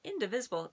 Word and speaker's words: indivisible: And indivisible, it sounds like the word invisible, like you can't see it. But there's an extra D in it, and it's and the extra V. It's a little bit different.